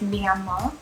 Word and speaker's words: Myanmar: it wrong the whole time i'm sorry it's me and ma or i'll just say yangon that's probably easier